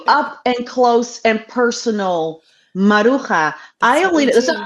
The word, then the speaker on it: Maruja: it's a Spanish name, and you would pronounce Maruja. it Maruja, Maruja.